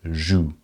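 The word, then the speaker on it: jouent: ENT is not pronounced. It's still pronounced joue.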